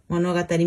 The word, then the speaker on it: 物語: Yes, but we can read this kanji in a different way. So for example, 物語. 物語. Monogatari means story.